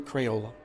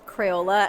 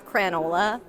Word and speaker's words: Crayola: He used to pronounce Crayola as Cranola and I let him know that we were going to do a full rebrand.